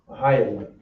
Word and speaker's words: Mahayaman: For the kids class, this is how you will pronounce his name in Hebrew. Bumps and bridges. Ma, Hi, Ya, Man. Mahayaman.